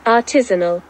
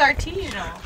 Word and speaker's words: artisanal: going to be sweet artisinal artisinal did you hear did you hear tal artisanal yeah she don't know nothing I really think it's artisanal yeah I'm pretty sure there's tanal there's no E I really think that's a t i s a n a l artiso and Dad wins